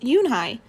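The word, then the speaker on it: Unhei: no yoon hai corrected it's spelled u-n-h-e-i it's pronounced yoon hai oh it's yoon hey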